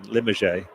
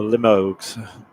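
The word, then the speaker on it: Limoges: Limmerge or Limog. I'm sure it's not Limog, but that's how it's spelled.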